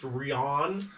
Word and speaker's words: Rian: pronounced Rian.